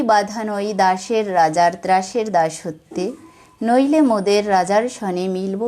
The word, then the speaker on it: দাসত্বে: এই শব্দগুলোর মাঝখানের অক্ষর ওকার সহযোগে উচ্চারিত হবে। যেমন এখানে আছে রাজত্বে, হবে রাজত্বে। দাসত্বে গানের সুরে উচ্চারণ হবে দাসত্বে।